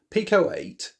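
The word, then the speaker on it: Pico-8: And is that how you say it, Pico 8? Pico 8, yeah.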